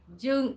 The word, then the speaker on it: Jung: Hey, Jung, you know, in German, when you're learning German, J-U, you call it, you pronounce it as Y.